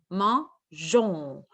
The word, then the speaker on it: mangeons: Alors, ici, on va ajouter la lettre E pour que la lettre G se prononce je. Alors, ça va être nous mangeons.